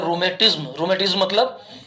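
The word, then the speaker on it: rheumatism: टी आई एस एम जिसका उच्चारण नहीं है उसका उच्चारण साथ में लिखो रूमेट इसे कहा जाता है रूमेटिज्म जाती है इसका उपचार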